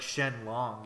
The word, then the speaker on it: Shenron: how like they don't in certain uh Asian languages they don't pronounce like the L it's like more of like an R sound so it's like Shen long but it'd be like Shenron so it's like Shenron